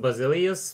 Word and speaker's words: Basilius: do you think anyone will pass Basilius? Oh, he's Lithuanian. I could see, but it's actually it's pronounced Basilius because he's Lithuanian and I am.